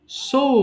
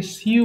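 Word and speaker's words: sew: সো মানে সেলাই করা, এটাকে সিউ বলবো না। হ্যাঁ, উচ্চারণটা যদিও মনে হচ্ছে তোমার কাছে সিউ, বাট এটা কিন্তু হবে সো মানে সেলাই করা।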